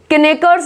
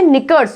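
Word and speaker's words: knickers: ये देखो निकर्स, केनेकर्स नहीं होता, ये होता है निकर्स, इसमें भी के क्या है, साइलेंट है।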